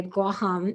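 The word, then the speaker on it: Guåhan: you know and um guam by the way guaham is the native pronunciation is over the deep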